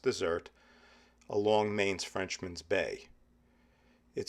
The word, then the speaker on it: Desert: Bar Harbor is the largest town on Mount Desert Island, yes, that's pronounced dessert, along Maine's Frenchman's Bay.